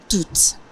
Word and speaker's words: tout: vous l'aurez sûrement remarqué dans tout abîmé bien qu'il n'y ait pas deux finales tout se prononce tout en effet puisque le mot suivant commence par une voyelle la liaison est obligatoire lorsqu'il accompagne un non